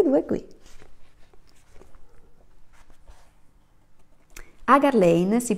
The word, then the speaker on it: Hagar Lane: e secondo libro sono tutte e due qui agar lane si pronuncia si si presenta così sono un ingegnere